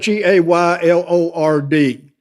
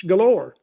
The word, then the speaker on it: Gaylord: It's spelled G A Y L O R D. They don't call it Gaylord. It's galore.